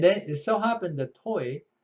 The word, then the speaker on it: TOI: Okay, and then it so happened that TOI has a French pronunciation called toi, which means you.